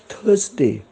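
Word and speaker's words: Thursday: डी ए वाय थर्सडे आता इथे आर आहे आर चा फार जोरात उच्चार होत नाही थर्सडे अर्धा होतो थर्सडे टी एच यु आर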